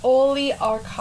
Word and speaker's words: oligarchical: No, it's not even at all like it's more like archives. It is like archives. Sorry. But it's archical. It's oligarchical. Okay, so it's spelled Oligarchical. Oligarchical. No. Child. Archives. No, that'd be a chi.